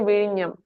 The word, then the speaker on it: Vizhinjam: Well, I think it is Vizhinjam. Am I right? So In Malayalam, we say Vizhinjam, sir, but you Vizhinjam. are almost right.